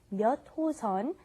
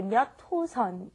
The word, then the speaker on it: 몇 호선: When you say 몇 호선, you want to say 몇 호선. It's kind of like it's not written that way, but that's how you want to pronounce it.